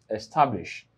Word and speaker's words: establish: So, I have establish. So, it means that the syllabic division is e hyphen sta hyphen blish. This is established. Now, remember that the stress is placed on sta.